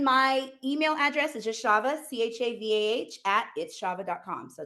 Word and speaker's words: Chava: at underscore its underscore Chava, Chavah. And It's Chava, not Chava. yes, You that is the Jewish pronunciation, but I am not Jewish.